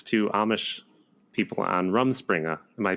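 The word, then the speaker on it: Rumspringa: van and it's it's to amish people on rum springer am i pronouncing that right yes yes that's where they're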